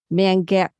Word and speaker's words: Mangueira: and I want to make sure I say it right, Mangueira.